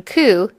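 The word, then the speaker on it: 九: 9 is an unlucky number because its pronunciation ku is similar to the Japanese word for suffering.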